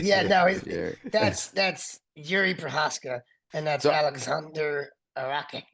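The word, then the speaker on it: Procházka: I'm not going to pretend to pronounce that name. So I'll let That's you have Yuri it. Prohaska.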